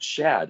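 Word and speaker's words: שד: It's pronounced Shad.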